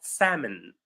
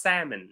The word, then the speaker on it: salmon: So the word is pronounced salmon. The L is silent, right? The L is silent. So it's salmon. salmon.